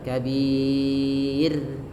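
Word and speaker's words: كبير: Jadi cara membacanya tidak dibaca kabir, tidak, tapi kabir.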